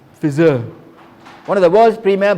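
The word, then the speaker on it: Pfizer: the sponsors messages gold sponsor how do you pronounce that p f i z e r fizzer one of the world's premier bio biopharmaceutical companies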